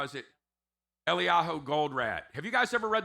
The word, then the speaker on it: Eliyahu Goldratt: And how do you pronounce his name? Elias? No, not Elias. Eliyahu. How is it? Eliyahu Goldratt.